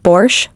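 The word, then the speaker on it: borș: for Soups such as a bores pronounced borch pickles and other dishes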